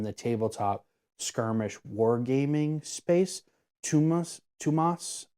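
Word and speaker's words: Tuomas Pirinen: tabletop skirmish wargaming space, Tumas Pirinen. It's like, he's Finnish, so like it's Thomas, but like Finnish pronunciation, and it's Tumas or Tumas.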